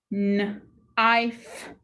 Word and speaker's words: knife: The I is long, the E is silent. Let's sound this out. Knife.